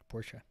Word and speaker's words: Portia: Portia.